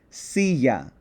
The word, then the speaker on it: silla: So, I would pronounce this silla, not silla, silla. So, the accent, that emphasis, falls on the second to last syllable.